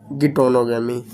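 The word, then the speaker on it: geitonogamy: दूसरा आता है हमारा गिटोनोगैमी। मीन्स गैटनोगैमी बोल सकते हो या गिटोनोगैमी बोल सकते हो, जैसा आपको प्रोनाउंस करने में लगे।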